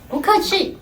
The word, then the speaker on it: 不客气: 不客气。 Bukhachi.